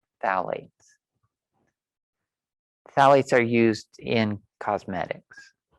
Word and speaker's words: phthalates: Phthalates. I'm assuming the pH is silent. Phthalates.